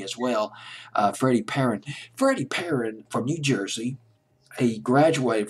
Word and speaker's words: Perren: in just a minute but Freddie / apparent PE rren in case of Miss pronouncing his name Freddie parent always been kind